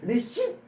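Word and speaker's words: receipt: 리시은 역시 명사인데 피가 발음이 안 됩니다. 예. 사일런스예요. 사일런스 묵음 발리 receip 아 이게 아니라 receip re요.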